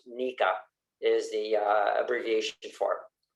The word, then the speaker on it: NECA: I work for the International Brotherhood of Electrical Workers, Local 11, as well as the National Electrical Contractors Association, that is somehow pronounced NECA, is the abbreviation for it.